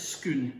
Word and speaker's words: Scone: They've got a place in Perth that's spelled S-C-O-N-E, scone, to you and me. But for people of Perth who can't manage ordinary speech, it's scoon.